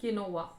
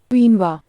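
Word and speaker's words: quinoa: Dish is extremely healthy pronounce Q यू आई एन ओ ए के किनोवा is this the pronunciation let's ask uncle Google क्वीनवा well that's the pronunciation.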